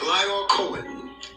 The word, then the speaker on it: Lyor Cohen: So what looks like Lyle Cohen.